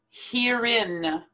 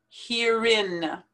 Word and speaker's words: herein: pronounce it moped moped herein herein like the word here and the word in put them together herein therein therein the word